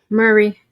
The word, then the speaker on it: Maury: Murray. Murray, there it is. I can't. It's spelled Maury, but his name is Murray. Maury. His name is Maury, Murray. but There Murray. he is. Yeah. It's pronounced Murray.